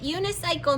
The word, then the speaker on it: unicycle: you unis cycle and is that soft see it's a soft see unicyc hard c cycle silent e on the end right unicycle now u n i